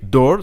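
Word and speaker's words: door: on doit essayer de trouver un mot en français qui s'approche du mot d'or alors ce qui me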